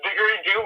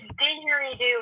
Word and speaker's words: didgeridoo: Yes, it's Diggery-Doo Man. Diggery-Doo Man. Oh, Yes. so it is. It's Didgeridoo Man.